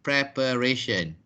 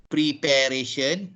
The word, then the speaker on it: preparation: So it is prepare and preparation. Unfortunately, many Malaysians wrongly pronounce these two words. They say prepare. We are preparing our work. This is our preparation. So it's not preparation, it is preparation.